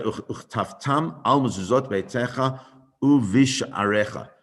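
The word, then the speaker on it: וּבִשְׁעָרֶיךָ: uchtaftam al mezuzot beitecha uvish arecha. It's not visha arecha. It's not. We don't pronounce the shva there in as a letter uvish arecha.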